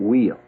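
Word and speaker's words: Weil: man named yellow kid while did you ever hear of yellow kid while some people pronounce it wheel yellow kid wild never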